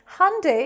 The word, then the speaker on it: Hyundai: Hyundai is the correct pronunciation of this brand.